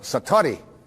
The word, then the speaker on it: satori: it's called excuse my japanese but it's called satori i'd love to say that s-a-t-o-r-i and it